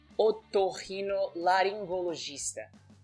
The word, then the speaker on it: Otorrinolaringologista: Whereas, if the G comes with E or I, it's pronounced like J.